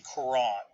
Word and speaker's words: Quran: i've got two different spellings the word is pronounced the quran sometimes you'll see a spell with a q